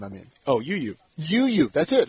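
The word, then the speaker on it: U'u: UU, that's it. I mean, just like it's spelled. UU, yes.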